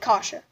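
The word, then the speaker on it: Kaše: last name pronounced the case I think it's kasha kasha that was probably the name that was hardest for me to pronounce on I first like last season you're right kasha okay domi wins the draw takes a shot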